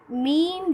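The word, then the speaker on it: مینہ: Meme ये नून है, इसको हम लेंगे। इसमें जो नून का जो साउंड है वो साइलेंट हो जाएगा, इसको हम पढ़ेंगे मी।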